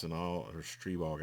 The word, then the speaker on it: Stribog: check out this the strybog it's it's an all or stree bog i think is technically how you pronounce it but um yeah oh